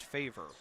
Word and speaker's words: Favre: the corner for favor favor spelled like Brett Favre but believe it is pronounced favor here is Fleming Hill